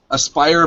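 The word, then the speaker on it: Aspyr: to pronounce it properly asper aspir media Aspire okay Aspire like aspiring Aspire media is the developer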